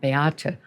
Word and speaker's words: Beate: But as a young child, she couldn't pronounce her own name, Beate, in German, Beate, Ati.